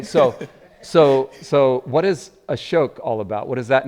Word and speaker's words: Ashok: name yep yeah so a shoke yeah right just so you all remember it rhymes with Coke and spoke and right just just